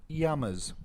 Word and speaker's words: llamas: __ ] naked and they're pronounced traditionally where they're from as yamas yamas yes double l mexican y hawaii they know